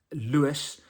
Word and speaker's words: Louis: sure how to say his name but it's Lewis um like l e w i s but obviously it's spelled l u i s and then ree zamit